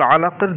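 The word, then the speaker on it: علق: এখানে মূলত শব্দটা হচ্ছে খলাকাল ইনসানা মিন আলাকিন। কিনটা এখানে উচ্চারণ হয় না, কারণ হচ্ছে এটা একদম শেষে রয়েছে শব্দটা, আলাক এরকম সুকুন উচ্চারণ হবে।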